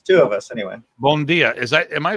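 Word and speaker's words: bom dia: uh at least it's two of us anyway bondia is that am I pronouncing that right bondia yeah bondia it's like a good morning morning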